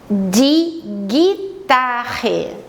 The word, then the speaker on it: Gitarre: de guitarra de guitarra notem que a letra g como nós já aprendemos tem o som de Gui né em alemão é gay por isso eu não preciso do U para fazer o som do Gui Então mais uma vez